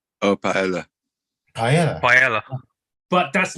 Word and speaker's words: paella: It's begins for P, paella. Paella. Paella. but that's not the actual pronunciation.